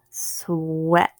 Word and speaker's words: sweat: long e good week next word sweat swore a short e sweat next word great gert